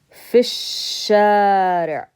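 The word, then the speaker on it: في الشارع: We're going to skip over this alif, and we can't pronounce the lam because it's a sun letter. So we skip over it and we say fish-shari'.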